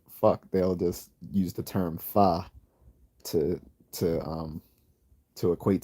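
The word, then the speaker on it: phở: Vietnamese noodle soup it's spelled pH but it's pronounced fa and as I and it's also funny cuz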